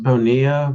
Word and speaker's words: Bonilla: Spanish yeah Spanish yeah my family's Spanish so it makes sense Bona and Charles am I